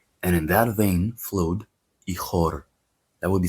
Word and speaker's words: ichor: He had one single vein running through his body from head to ankle, and in that vein, fluid, ichor.